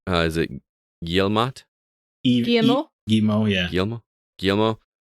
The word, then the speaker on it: Guillemot: And how do you pronounce the guy's name? Is it Guillemot? Guillemot? Guillemot, yeah.